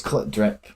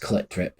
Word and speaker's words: CLT DRP: It's Clip Drip. So Drip. if you listen to their debut album Without the Eyes, the first track it explains that in the first couple of seconds. It says it's pronounced Clip Drip in like electronic sort of voice, I think.